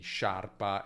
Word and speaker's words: sciarpa: Ecco, la I qui non si pronuncia, serve solo a indicare che dobbiamo dire sh e non pronunciare sk, quindi sciarpa è diverso da scarpa.